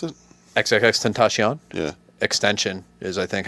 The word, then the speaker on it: Tentacion: Is that how you pronounce it? XXX Tentacion. Yeah. Extension is, I think, how you're supposed to pronounce it, but I can't Oh, pronounce things very well phonetically.